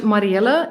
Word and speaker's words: Mariëlle: The only thing we have is the dots on my name, Hmm. which is just sort of it's showing people that you should pronounce the I and the E separately from each other. That it's not one vowel, basically, one vowel sound.